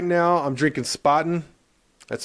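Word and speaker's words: Spaten: beer I gotta say right now I'm drinking spotting that's spelled s-p-a-t-e-n it's uh for y'all who don't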